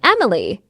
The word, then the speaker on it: Emily: હે, That's not how you pronounced my name. It's Emily.